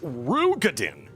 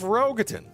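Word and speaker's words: Roegadyn: Also, it's pronounced Rugadin. instead of Rogatyn.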